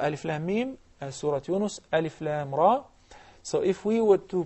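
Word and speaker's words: الر: Surah Al-Baqarah, Alif Lam Mim, Surah Yunus, Alif Lam Ra. So if we were to pronounce it properly, we would say Alif Lam Ra.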